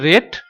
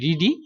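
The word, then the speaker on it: read: এরপরে ভার্বের past participle form, এই যে রিডিং ভার্বটি রয়েছে এর পাস্ট ফর্ম হচ্ছে রেড, বানান কিন্তু আর ইএডি রিডি, কিন্তু উচ্চারণ হচ্ছে রেড।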